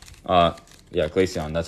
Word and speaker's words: Glaceon: uh I just pulled the all art uh glacion uh yeah Glaceon that's how you say it already Ethan yeah